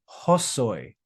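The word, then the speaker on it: ὅσοι: So it's like we're adding a letter H before this omicron. We're going to pronounce it as hosoi, hosoi, hosoi, hosoi de elabon.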